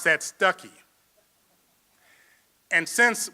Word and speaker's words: Stuckey: Ann Stuckey, now in Arkansas, we would pronounce that Stuckey. And since we would pronounce it Stuckey, that means Ann and I are cousins because my mother's name is Stuckey.